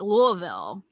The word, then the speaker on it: Louisville: Yeah, there's like a hard in the middle of it there that you have to just basically say it like you've got food in your mouth. Yeah, Louisville. It's like the peanut butter stuck to the roof of your mouth.